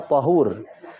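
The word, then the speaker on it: طهور: bersuci adalah air yang bersifat Tohir ya bacanya thohur Jadi kita ini nih biar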